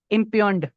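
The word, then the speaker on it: impugn: उसको आप क्या कहेंगे, इम्पियंड। इधर जो जी है वो खामोश साइलेंट है।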